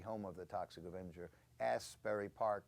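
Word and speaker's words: Asbury Park: of the toxic ofer Asberry Park Asberry Park New Jersey which does have the word ass as first syllable so it's very good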